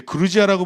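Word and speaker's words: Грузия: 원래는 이제 그루지아라고 불렀는데이 그루지아가 러시아식 발음이에요.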